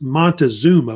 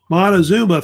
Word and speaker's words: Montezuma: Mexico or the Aztecs, which, of course, is Montezuma, which it's spelled different ways.